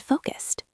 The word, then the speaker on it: focused: Did you notice the ed sound at the end of focused? It sounds like a T. Focused, focused.